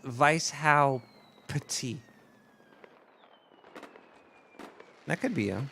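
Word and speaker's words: Weishaupt: the link let's see here John Adam boostrap pronounced Vice how petit that could be a he's got that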